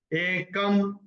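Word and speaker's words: एकं: तीसरा चरण, एकम सांख्यं च योगं च, क्योंकि क के ऊपर अनुस्वार के बाद का अक्षर है स, तो उसका उच्चारण होगा म, और य के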